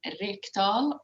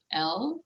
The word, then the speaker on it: Rekdal: Rekdal, Rekdal, and even Swedes. Only Norwegians can say that name, actually.